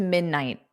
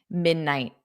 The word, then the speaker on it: midnight: So I generally don't push out that T, midnight, night. So I put my tongue in the position midnight, but then I just don't go t because then it produces a T.